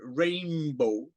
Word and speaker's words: Rainbo: know running argues that uh in this version Rainbow Oh everyone gets his name wrong hey dildo hey hey purple yo it's